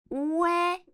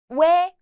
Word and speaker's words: 왜: Pronounce O and 에 quickly together. As in 왜, 왜.